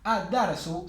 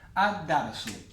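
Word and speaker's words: الدَّرْسُ: Ad-darsu sería la clase. La D es solar. Como la D es solar, le agrego la yadda y la L no la pronuncio. Ad-darsu.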